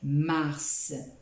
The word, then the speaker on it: mars: romaine ou encore le troisième mois de l'année mars répétez après moi mars c'est ça va bien